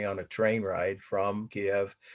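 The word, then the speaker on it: Kyiv: They befriended me on a train ride from Kiev. And yes, that's how the Ukrainians pronounce it when they speak English, not Kiev, but that is the way the media is saying it.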